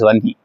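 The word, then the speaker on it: वह्नि: Wherever there is dhuma, there is vanhi. Yes. Vanhi or vanhi? Vanhi is how you have to pronounce.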